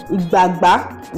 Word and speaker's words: igbagba: ebola and but today i'm cooking with the igba yeah that's how it's pronounced so i was like good morning ladies